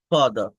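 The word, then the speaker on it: father: ফাদার ফাদার মানে বাবা তো ব্রিটিশ ইংলিশে এই আর টা কিন্তু উচ্চারণ করে না ফাদার ফাদার এরকম বলে এই আর উচ্চারণ হয় না এভাবে তো আবার আমেরিকান ইংলিশে এটা কমপ্লিটলি উচ্চারণ হয় তো আমরা বলি যে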